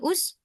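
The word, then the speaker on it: اسجد: Makanya hamzahnya jadi Usjud. usjud gitu.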